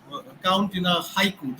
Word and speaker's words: haiku: syllable count in a haiku the word Haiku in English is a two syllable word in Japanese it's a three syllable word okay so so so